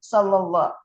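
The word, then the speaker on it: صلى الله: Jadi selama ini salah nyebutnya sallallahu nggak pakai tasdid, bertasdid adanya sallallahu. Tadinya sallallahu aja. Sallallahu. Sallallahu, lam tasdid ya, shalla. Sallallahu.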